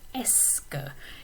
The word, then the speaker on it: est-ce que: this expression, est-ce que, and that's how you pronounce it, est-ce que. It looks like there's a lot of extra letters there and you wouldn't need all of them. But there are plenty of silent letters in French, just like we have in English.